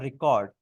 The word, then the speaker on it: record: इसकी प्रोनाउंसिएशन में मुझे एक बात याद आई कि अगर हम इसको वर्ब के तौर पे यूज करेंगे तो वो होगा रिकॉर्ड, आई एम रिकॉर्डिंग the meeting, I एम रिकॉर्डिंग the video.